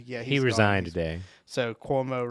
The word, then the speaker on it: Cuomo: he resigned today so cuomo rhymes with cosby he's out you know